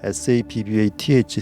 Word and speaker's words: Sabbath: 이 간격을 the Sabbath, S-A-B-B-A-T-H, Sabbath 이렇게 발음하는데 안식일이라고 부릅니다.